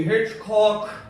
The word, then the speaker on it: Hitchcock: I'm going to show you why they call me Hitchcock. Emphasis on the second syllable.